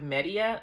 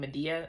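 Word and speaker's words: Medea: Like, oh, when they found the purple shirt when they were with Media, I think that's how you say her name. Medadia. I keep want to say Medadia, but I think it's Media.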